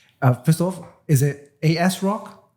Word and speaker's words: ASRock: brothers right right uh first off is it as rock ASRock how do you say the actual pronuncially uh the name of uh the brand